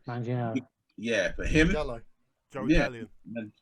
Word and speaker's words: Manganiello: I can't pronounce his last name. Manganiello.